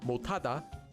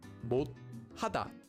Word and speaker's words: 못하다: Yeah, 시옷 At the end of a syllable, if one of the 7 consonants isn't followed by the empty consonant, it becomes pronounced as a digat. So this syllable is pronounced as 못, making the entire word 못하다, 못하다.